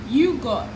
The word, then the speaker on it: yogurt: You are not calling the T. Pronounce the T. Yogurt.